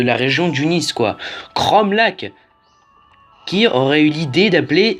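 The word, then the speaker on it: Cromlac'h: Cromlac. Je me souviens encore du let's play de New Titeuf qui disait Cromlacache. Alors qu'il n'y avait pas de ch dans Cromlac.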